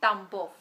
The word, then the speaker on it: Tambov: it's I was born near the town name tambov what what is it called say it again tambov how do you spell that t a m b o v okay